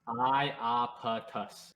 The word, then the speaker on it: Iapetus: Oh, well, it's pronounced Iapetus. Iapetus.